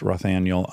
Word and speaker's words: Rothaniel: in theaters, and then Rothaniel. I really urge everyone to watch Rothaniel on HBO Max. Am I pronouncing your first name right? Rothaniel? Yeah, Rothaniel.